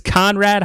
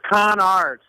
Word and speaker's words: Conard: It's Conrad High School. Is that how you say it? It's Conard, C-A-R-D.